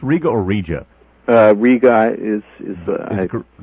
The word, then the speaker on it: Riga: Riga is the correct pronunciation.